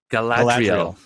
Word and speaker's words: Galadriel: I can't even pronounce these names. Galadriel. How do you say it? Galadriel.